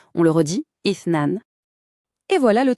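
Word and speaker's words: اثنان: C'est assez distinctif, ça se prononce ithnan. Faites attention au début du mot, c'est un son très doux, presque comme un souffle. On le redit, ithnan.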